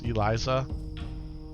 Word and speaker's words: Eliza: Kept saying Elsa's heart for the embalmer, and it's Eliza.